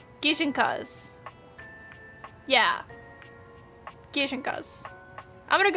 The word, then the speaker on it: gijinka: I loved drawing ginkas like a Pokemon. I'm also saying it wrong. Gijinkenas. Gijinkas.